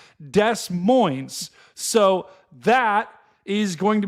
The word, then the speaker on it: Des Moines: Of the chat has agreed with me in how do you pronounce Des Moines. It is, in fact, Des Moines.